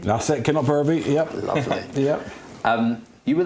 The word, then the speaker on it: Kinlochbervie: years in the Inverness region, and I'll probably pronounce it wrong, but it was a small place called Kinlochbervie. That's it, Kinlochbervie, yep.